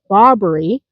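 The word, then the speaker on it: Barbary: One of them is the bobbery, emphasis on the first syllable, and that is a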